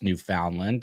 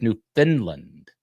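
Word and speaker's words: Newfoundland: my whole life I thought it would be pronounced New Foundland because that's how it's spelled but it people always told me it was New Finland but it is New Foundland amazing Chile in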